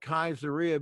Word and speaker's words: Caesarea: I call it Caesarea because that's the right way to pronounce it. Where did we ever get Caesarea? I don't see it there.